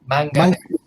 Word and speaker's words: manganese: It's not magnesium, it's manganese. Manganese.